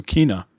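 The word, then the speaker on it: Kena: to pronounce this it's it's like tina but with the k so kina right so which i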